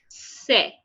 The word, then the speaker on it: C: So the pronunciation of C in French is say, okay, say.